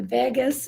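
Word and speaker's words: vagus: the V Vagas nerve if you've heard of the Vegas nerve it's not spelled like Las Vegas it's spelled differently v a g u s the Vegas nerve it's the gut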